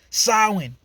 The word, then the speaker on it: Samhain: um yeah eso get mad actually actually it's pronounced samhain you know all right my fault calm down